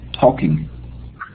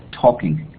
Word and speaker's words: talking: Talking. Okay. Good. Careful with this pronunciation. The first verb is taking, and this one is talking. In this case, the L is not pronounced, okay?